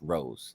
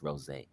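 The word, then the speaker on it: Rosé: You know, my artist name is Rose, 2 I's, and Rose, but it's not pronounced Rose. It's Rose. Rose. You know, there's a little accent at the top.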